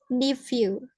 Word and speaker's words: nephew: How do I pronounce nephew? I pronounce it as nephew. Jadi PH-nya berubah jadi F.